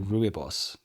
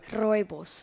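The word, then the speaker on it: Rooibos: Um, actually people in America they call it ruibos. Ruy boss. Yeah, obviously. Give me a perfect pronunciation of the word. Royos. Royos. Royos. Correct. Royos.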